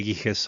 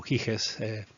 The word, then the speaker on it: Giges: La fábula se conoce como el anillo de Giges o Giges, depende de cómo ustedes lo quieran pronunciar.